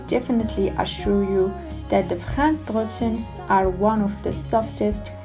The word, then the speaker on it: Franzbrötchen: It's called Franzbrötchen. Yes, this is how it's pronounced in German.